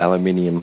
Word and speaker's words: aluminium: i u m yeah in English they take one of they take that I out that makes it aluminium the alum in American English yeah so in English